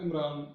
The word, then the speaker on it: عمران: ہارون کی بہن تھی، اور وہ بائبل میں وہاں نام ہے امرام، میم کے ساتھ ہے، نون کے ساتھ جو ہے وہ نہیں ہے۔ اچھا، جب ہم عبرانی کا یہ ایک تلفظ ہے، جب اسے عربی میں ہم پڑھتے ہیں تو وہ عمران جو ہے بولا جاتا ہے، ٹھیک ہے۔ اچھا، بات